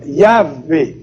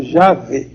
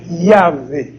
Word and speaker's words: Yahvé: Entre os hebreus, a realidade infinita se chamava Yahvé, falsamente pronunciado Javé. Yahvé, ou Jeová, alguns pronunciam, mas a pronúncia hebraica é Yahvé. Yahvé, com Y no princípio.